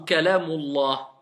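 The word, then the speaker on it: كلام الله: On écrit le alif, mais on n'écrit pas et on ne prononce pas la hamza. Donc je vais dire Kalamu Allah ou Kalamullah. Kalamullahi.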